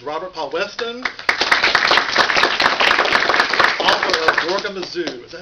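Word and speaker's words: Zorgamazoo: And to my immediate left is Robert Paul Weston, author of Gorgamazoo. Is that how you pronounce it?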